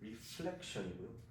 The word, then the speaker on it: reflection: 반사는 L versus reflection이고요. 굴절은 R을 쓰죠. refraction이라고 합니다.